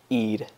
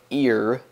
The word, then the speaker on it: ir: This one's kind of tricky to pronounce, but if you pretend that the R is a D, you'll say it correctly. Ir. You don't want to say ear, because then you sound silly.